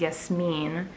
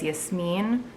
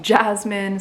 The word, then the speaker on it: Yasmine: go by but my real name is yasmine or yasmin in english and like i like my name in arabic as yes mean but i'm not crazy about like the english pronunciation of yasmin or some people call me jasmine some people call me as mean so i don't really like care for that's american english way of pronouncing my name but i never really